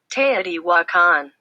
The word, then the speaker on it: Teotihuacan: has no idea and this is how it's pronounced Teotihuacan okay so on the vernal equinox people from